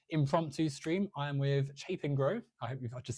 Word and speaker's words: Chapingro: I'm doing wonderful, and just to aid the conversation, it's Chapingro, like Chapingro. Chappie and Pingro.